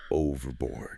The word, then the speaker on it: overboard: Overboard. This stress here is on the very first letter.